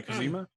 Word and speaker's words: Kuzima: That's the right way to say Kuzima. Yeah, Kuzima.